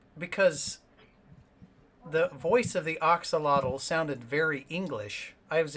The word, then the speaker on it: axolotl: It's an octolotl. Axolotl.